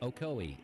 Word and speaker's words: Ocoee: minute I'm from Cleveland Tennessee and it's pronounced Ocoee Etowah and hawasi Adam Denver asoe hawasi itoa